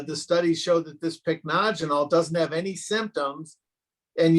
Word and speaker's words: pycnogenol: maritime pine tree and it's a supplement called pycnogenol that's spelled p-y-c-n-o-g-e-n-o-l pycnogenol that has been shown to not only